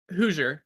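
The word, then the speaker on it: Hoosier: It's not spelled with a Z, but but you pronounce it like a Z.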